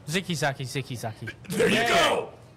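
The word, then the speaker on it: Zicke Zacke: goddamn times no no it is a k not a g how do you pronounce it oh so you corrected me which means you got a CH it is ziki Zaki ziki Zaki Hoy Hoy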